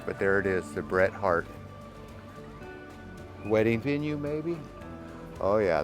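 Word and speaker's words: Bret Harte: from 1880 so that's how you say it Bret Hart but we're going to go take a gander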